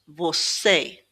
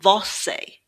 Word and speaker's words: você: The O sound is more of an Ooh. Você. So, it's not vosse, it's vosse.